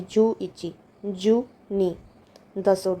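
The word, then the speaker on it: 十一: गो लोकू शची या नाना हाची कु या क्यू जु अब 11 है तो 10 और एक की प्रोनंसिएशन हो जाएगी जु इची जुनी 10 और दो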